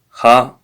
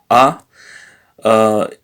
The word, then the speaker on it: ha: So the verb ha, so is a verb, so which means he has, yes, ha, no, sorry, not ha, but a, is he has, yes, and the infinitive of the verb is avere.